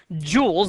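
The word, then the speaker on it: joule: prevent that from happening they're rated according to jewels that j u l e is pronounced a jewel and the you know Common numbers you might have would be something like 1,250 jewels and this is a a measure of how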